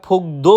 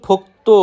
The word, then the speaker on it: 복도: এরপর রয়েছে ফোক্তো, যেটা আমরা প্রায় সময় ফোকদো উচ্চারণ করে থাকি, সেটা সম্পূর্ণরূপে ভুল। সঠিক উচ্চারণ ফোক্তো মানে বারান্দা।